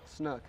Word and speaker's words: snook: a snug snook am i saying it right snook s snook not chinook okay so i almost